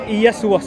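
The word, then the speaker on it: Ἰησοῦς: what does it pronounce his else i just pronounced it and you do it again because i missed it yes to us in greek okay yes to us yes okay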